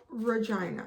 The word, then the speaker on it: Regina: it yesterday with vagina regina which is the capital of saskatchewan and that's how we pronounce it i know you can